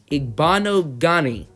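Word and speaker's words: Igbinoghene: okay so I have looked up how to pronounce the Auburn and cornerbacks the last name it is Noah a bond o Ghani a bond o Ghani alrighty inserted into the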